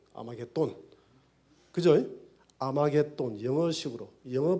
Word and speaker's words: 아마겟돈: 영어식으로 읽은 읽음인데 톤이 아니고 돈, D-O-N, 아마겟돈.